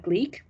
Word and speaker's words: Gleac: introverts etc you can go and download the gleek app it's spelled g-l-e-a-c in the google play and app